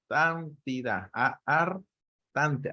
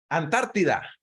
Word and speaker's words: Antártida: Por ejemplo, se habla de ciudades como la Artántida, así dije bien, ¿no? Como nunca pronuncio esa ciudad. Antártida, ya, ahí sí, Antártida.